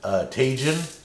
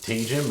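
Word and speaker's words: Tajín: Tajin? Yeah. Tajin, maybe? It rhymes with like Cajun, maybe?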